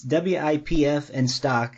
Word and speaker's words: Wipf and Stock: to pronounce it it's wipf and stock is the uh the publisher whoop i always want to say whip but i'm never sure if i'm pronouncing it right but the good